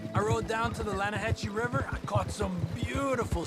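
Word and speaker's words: Lannahechee: it runs right near here yeah but it's pronounced laying a hassle why is everything in English said differently than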